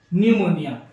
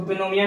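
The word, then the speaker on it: pneumonia: एक चीज होती है न्यूमोनिया। ठीक है, इसको पिनोमिया नहीं पढ़ना है, इसको न्यूमोनिया ही पढ़ते हैं। इसमें पी हमारा जो रहता है वो साइलेंट रहता है।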